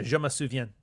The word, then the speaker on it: je me souviens: So, yeah, je me souviens. Don't pronounce the S.